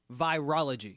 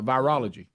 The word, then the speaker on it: virology: that word virology via virology virology okay I gotta say it like Scooby-Doo virology that's funny I'm making it harder than it is yeah like virus yeah virology virus virology so so what is